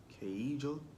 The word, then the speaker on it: queijo: I was about to say queso, but it's not queso. That's Queijo. No. Queijo. Queijo. Because isn't in Spanish the J is not pronounced J, it's pronounced as the H.